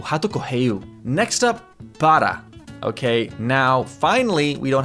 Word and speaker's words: para: Now, if you can't do a rolled R, you can do like a soft D sound. Okay, not like a normal English D, not pada, para.